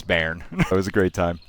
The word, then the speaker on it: Bearn: I was saying it was Bearn. He was saying it's Bearn. Turns out it's Bearn.